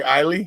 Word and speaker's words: Islay: Okay, Islay. Yeah. Okay. It's silent S. It's almost kind of like Isla.